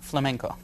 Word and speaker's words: flamenco: What is the correct way to say it? And smack me when I'm wrong. Flamenco. Flamenco.